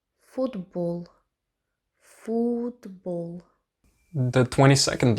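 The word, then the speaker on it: футбол: For example, if you say the word for football, the O, like the O sound there, is pronounced as an U, and it's the same as in Russian.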